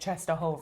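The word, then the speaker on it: Częstochowa: We say it cheshova.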